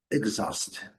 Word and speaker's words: exhaust: Aqui uma pequena diferença entre os sons nessa sílaba mais forte, aqui a sílaba forte, a segunda, exhaust, no inglês britânico um pouquinho mais fechado, no inglês americano um pouquinho mais aberto.